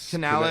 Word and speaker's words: Canales: Canales. It's spelled Canales.